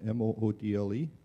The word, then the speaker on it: Moodle: So it's spelled M-O-O-D-L-E.